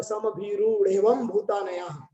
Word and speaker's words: समभिरूढ़ेवं भूतानयाः: और सूत्र शब्द समभिरूढ़ेवं भूतानयाः, एक साथ उसका उच्चारण करेंगे तो शुद्ध उच्चारण हो जाएगा। संभीरु और ढेवम करेंगे तो गलत हो जाएगा। संभीरूढ़ेवं भूतानयाः, इस प्रकार से उच्चारण करना चाहिए।